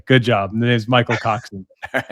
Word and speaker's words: Coxen: Did I say it right, Coxen?